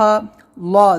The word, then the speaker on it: اللہ: ہے تو ان اللہ، اللہ زبان کو ہم اپنے یعنی پیچھے کی طرف موڑیں گے، اللہ اللہ ایسے موٹا کریں گے، منہ بھر کے آواز نکالیں گے، ان